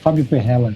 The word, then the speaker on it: Fabio Perrella: Yeah, you said correctly. Fabio Perrella, we say in Portuguese. It's like an Italian surname.